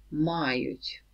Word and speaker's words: мають: Only be careful with the stress. So, ми маємо, ви маєте, вони мають. So stress on the first ma everywhere.